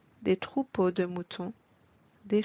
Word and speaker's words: troupeaux: As you noticed, we don't pronounce the letter X at the end. X remains silent. Des bateaux, des chapeaux, des manteaux, des troupeaux de moutons, des cheveux.